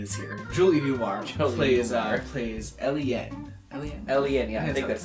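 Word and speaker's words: Eleen: them down, and then they pronounced them not at all how I would expect to like it seeing them written down. Eliane is spelled E-L-E-E-N. Ooh, not how I would have guessed to say exactly.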